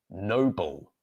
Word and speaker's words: noble: Bo would like to know the pronunciation of these two words. So the first word is noble, noble, noble.